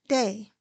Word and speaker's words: DAA: DAA are my initials, pronounced Day.